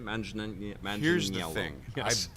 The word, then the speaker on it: Manganiello: I butchered his name. How do you say his last name? Manganiello.